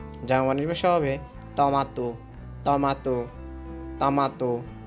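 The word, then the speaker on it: トマト: বাংলা ভাষায় tomato, Japanese ভাষা হবে টমাটো, টমাটো, টমাটো, উচ্চারণটা হবে টমাটো।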